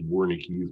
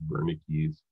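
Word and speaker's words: Wernicke: and then we have vernicky's area where you can see it it's colored kind of orangey yellow anyways versus language um it's it looks like it says warning keys but it's pronounced bernicke's anyways uh that is for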